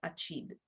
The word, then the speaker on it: acid: attention to the pronunciation as we can see in this case we have acid in english but in women it is pronounced achid whereas for the word